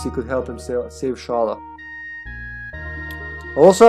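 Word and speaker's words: Schala: could help himself save shala also i've heard people pronounce her name scala which just doesn't sound right would you say scholar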